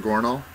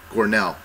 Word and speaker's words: Gornall: gornal G gornell gornell perfect got it gell yeah wait is it an A or an e at the end of your name an a yeah an A but it's Nell yeah go n yeah